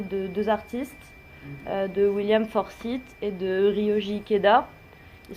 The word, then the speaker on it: Forsythe: Alors, on dit Forsythe en général. Mais bon, voilà, c'est une prononciation, c'est pas grave.